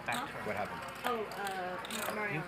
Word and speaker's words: Mariano: Mariano. A little bit of a roll in there.